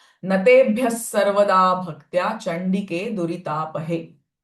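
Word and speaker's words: नतेभ्यः सर्वदा: So it will be wrong to say Natebhyah. Ideally or appropriate way to chant is Natebhyas sarvada. Sa sound of visarga.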